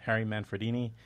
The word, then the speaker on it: Harry Manfredini: Harry Manfredini, did I pronounce that right? Yeah, Harry Manfredini, and others, et al.